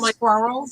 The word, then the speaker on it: squirrel: and he told me he says it's like swirl but you add the extra letters and I go do